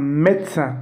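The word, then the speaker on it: médecin: அடுத்த எக்ஸாம்பிள் அ மெத்ஸன், பாருங்கள் அ மெத்ஸன் அதாவது டாக்டர். எப்படி இமெயில் ப்ரொனவுன்ஸ் பண்ணும்போது இமெயில் அக்ஸாந்த் யூஸ் பண்ணும்போது ஏ அப்படின்னு ப்ரொனவுன்ஸ் ஆகுது, அ மெத்ஸன்.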